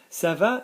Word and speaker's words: ça va: Ça va, notice the cedilla on the C, yeah, soft C, ça va, always need a soft C before an A, ça va.